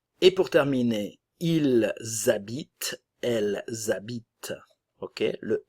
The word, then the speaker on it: habitent: Et pour terminer, ils habitent, elles habitent. Ok, le S de il et elle vont former une liaison obligatoire avec le son Z. Le ENT ne se prononce jamais, nunca suena esta terminación si es un verbo.